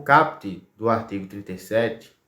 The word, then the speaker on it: caput: Então, CAPT. A gente não pronuncia às vezes com o som do U, então fica CAPT, né?